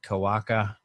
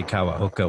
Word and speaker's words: Kawaoka: It's a little hangout with Lane Kawaoka, who I always pronounce Lane Kawaoka. and he never corrects me, but I heard him say Kawaoka once recently, and I was like, oh, okay.